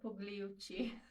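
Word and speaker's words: Pigliucci: How do you pronounce his last name? It's Massimo Pugliucci.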